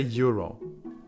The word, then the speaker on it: Euro: And that's how you say Euro.